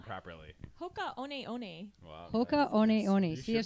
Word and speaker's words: Hoka One One: Yeah, who here can pronounce the whole brand name properly? Hoka One One.